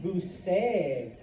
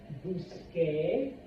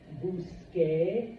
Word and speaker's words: busqué: the same in English, the C before an E does not make a K sound, it makes a S sound. So this would be Busé, Señor Santos, which is not the way it's pronounced. In order to get the correct pronunciation, we change the C to a QU, and now we add our E with an accent.